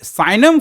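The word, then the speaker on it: signum: तीसरा देखिए यहां पर क्या है, ये साइनम फंक्शन है ना, साइनम फंक्शन, साइनम फंक्शन, साइनम फंक्शन, जी साइलेंट हो जाता है, कितना बचा, सिग्नम बोलता है।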